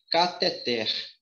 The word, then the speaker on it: cateter: aí ó tá bom a pronúncia aqui não é cateter e sim kather fica ligado até o